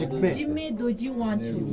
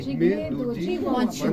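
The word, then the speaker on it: Jigme Dorji Wangchuck: How is the name is pronounced? Jigme Doji Wanchu. Jigme Doji Wanchu.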